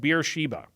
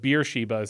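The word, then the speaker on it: Beersheba: third section now we have the treaty at beer Sheba beer Sheba I guess is the yeah it's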